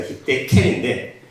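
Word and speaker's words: חדקל: 그래서 히데겔이라는 이제 말을 이제 화살같이 빠른 강이라고 일단 얘기하는 이유가 뭐냐면 히브리어로 히데겔이라는 말 자체가, 이거를 히브리어는 히데켈이라고 발음을 해요. 거의 비슷하죠. 히데켈인데 한글 번역성은 히데겔로 번역이 되었죠.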